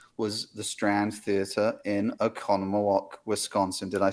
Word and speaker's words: Oconomowoc: Oz screened ever was the Strand Theater in Oconomowoc, Wisconsin. Did I say it right? You did. I've lived here long enough to pronounce those Yeah, right.